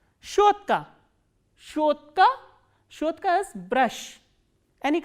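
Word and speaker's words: щётка: Shotka.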